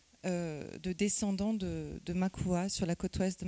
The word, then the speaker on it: Makua: travailler sur les Maka alors on dit bien Makua on prononce le a puisque ce n'est pas un mot malgache c'est un mot mozambiain on en reparlera donc on prononce bien le a euh donc j'ai commencé